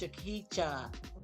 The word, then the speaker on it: Shakita: How do you say this name, Shaquita Kowaga? And I'd be like, "No, it's Shakita."